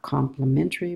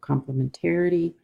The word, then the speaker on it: complementarity: of a complementarity design with that extra syllable not complimentary but complementarity is to build a more